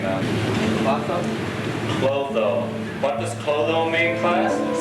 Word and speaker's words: Clotho: Why don't you pronounce the whole name now? Clotho.